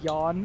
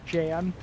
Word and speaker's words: Jan: Also, the fact that neither Alpha or Jaden knew his name was Yan and just pronounced it as they saw it is Jan.